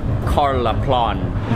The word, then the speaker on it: Karlaplan: I think I was mispronouncing it before. It's more like Karlaplan.